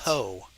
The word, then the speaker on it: apropos: And Yeah, Todd said apropos, and it's apropos. yeah, apropos, APROPOS. Oh, and the S Uh, is silent. yes, yes.